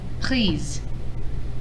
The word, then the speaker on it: prise: So now sometimes when we make the past participles agree with a direct object pronoun, it changes the pronunciation. So here, pris, just like normal, nothing changes. However, j'ai pris la guitare. J'ai pris la guitare. I took the guitar. I took it. Je l'ai prise.